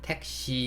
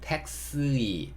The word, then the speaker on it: taxi: 한국어에서는 택시 이렇게 하는데 영어에서는 taxi, taxi, taxi 이렇게 발음한다는 거. 한국식은 택시, 택시. 영어식은 taxi, taxi. 좀 다르죠?